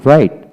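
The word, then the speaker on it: right: অর্থাৎ বাউলের পরে যখন জিএইচ থাকবে তবে জিএইচ উচ্চারণ হবে না। যেমন রাইট, আর আই, রাই, জিএইচটি, রাইট।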